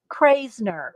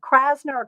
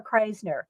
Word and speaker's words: Krasner: there's video interviews of her and um uh craisner lee kras krasner krasner married to jackson pollock and uh there's interviews